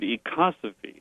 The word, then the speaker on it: ecosophy: The word we pronounce the word ecosophy.